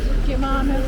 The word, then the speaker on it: Gimignano: Gimignano.